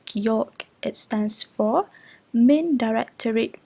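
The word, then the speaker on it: Gulag: As you can see, the word here is pronounced as geolog.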